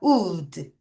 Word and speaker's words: would: 우 다시 우 한 번 더 우드까지 발음할게요. 우드 다시 우드 어 드 아니야.